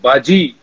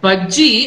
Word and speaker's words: Bajji: And तो यहाँ पे भी महाराष्ट्र में भी भाजी बुलाते हैं, but मैं भाजी नहीं हूँ, मैं बज्जी हूँ. So you're close. Bajji actually.